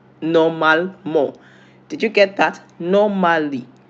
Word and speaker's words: normalement: How is it pronounced in French? Normalement. Normalement.